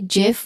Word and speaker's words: GIF: So, including the creator of the GIF format. Therefore, both pronunciations are valid. So, it should be it should either be GIF or GIF. That's that both pronunciations are correct. Both pronunciations are accepted.